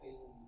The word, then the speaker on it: Halley: last, we were going through the trail of Haley's coming. Oh, yeah, okay. Like see meteor showers and stuff Uh-huh. like that. Brief from Haley's coming, which was what, 30 years ago or something.